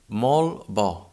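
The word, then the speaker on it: molt bo: sounds close ko kocha to have a good comparison of these two possible sounds we can try to say very good in catalan which is mol ba mol bo for example for a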